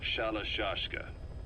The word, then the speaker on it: Shalashashka: somewhere along the line, Shashka got stuck on the end of Sharashka. The guerrillas were using the name amongst themselves, and by the time I got to hearing about it, pronunciation had wound up as Shalashashka.